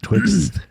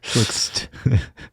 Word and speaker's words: Twixt: Yeah, Twixt. You got to add the extra T in there. Twixt.